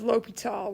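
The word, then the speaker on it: L'Hôpital: i've ever used spells l'hopital with the s this is not pronounced the hospital okay this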